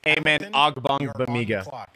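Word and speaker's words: Amen Ogbongbemiga: It's Amen Ogbonamiga. That's how you pronounce it, by the way.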